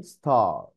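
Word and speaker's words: star: زي ايه زي ستار ما تدوس على ار قوي ما تقولش ستار لا احنا في البريتش ما بننطق الار وفي الامريكان بيبقى خفيف الجماع الامريكاني يقوللك ستار اما جماعه البريطانيين يقوللك ستار يفتح بقه كده ما يدس على الار خالص ولا ينطقها ستار اللي هي النجمه بارك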